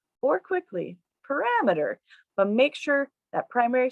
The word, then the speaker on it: parameter: the different steps parameter figure out what the what the primary or the correct stress pattern is the second step in this second box is to focus on those unstressed syllables mirror meter the third box shows rammeter and the final box shows putting it all together parameter now i'm going to